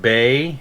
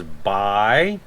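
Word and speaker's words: Bai: how to pronounce it i used to pronounce it bae and then i heard somebody corrected me and said it was by we've been drinking these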